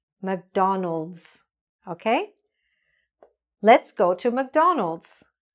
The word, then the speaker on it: McDonald's: So without the S, McDonald, McDonald. With the S, the way it should be, McDonald's, McDonald's, okay?